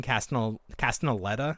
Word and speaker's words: Castellaneta: this Adobe software, and then they had Dan Castellaneta. Is that how you pronounce his name?